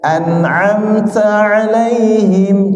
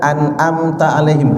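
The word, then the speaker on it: أنعمت عليهم: Kadang-kadang ada yang baca an'amta alaihim, hamzah semua itu, tidak ada ainnya, tidak ada yang ditekan di situ, ya. Kadang-kadang bacanya an'amta, ya, hamzahnya di ain juga, ain diganti hamzah di alaihim. An'amta alaihim itu kurang.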